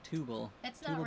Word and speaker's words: Tubal: Is there a specific translation for that or is it just something I think it's like trouble, but with the T E, Tubal. Tubal.